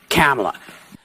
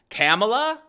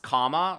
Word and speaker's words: Kamala: Where to go with Kamala? Kamala? Like Camelot? Wait a minute. We've been lectured, right? It's pronounced comma, like the little curvy thing. It's Kamala.